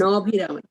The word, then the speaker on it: Manobhiram: So Mataji, when there is an apostrophe here, right? Like in this word. Viram. Yeah, so you won't pronounce. Manobhiram. Yeah, you don't pronounce the A there, right?